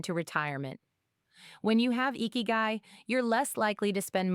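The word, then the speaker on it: ikigai: It's pronounced eeky guy.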